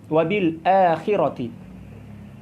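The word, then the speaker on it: وبالآخرة: Adapun qiraah yang lain, yaitu qiraat Warsh, maka cara membacanya berbeda dengan kita. Mereka membacanya dengan ya, cara wabila khirati, bukan wabil akhirah, wabila. Kalau mereka membacanya wabila khirati.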